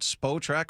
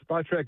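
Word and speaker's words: Spotrac: Is it spo track or spa track? That's the uh spa track is the preferred, but after 20 years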